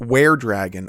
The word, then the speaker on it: were-dragon: It's pronounced were-dragon, as in werewolf, not we were.